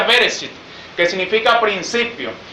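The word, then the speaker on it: בראשית: tiene que entender que la palabra génesis es la traducción de una palabra hebrea que se pronuncia bereshit que significa principio y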